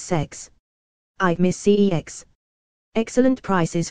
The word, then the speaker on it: CeX: forward slash games retailer whose name is pronounced as sex I've miss cex excellent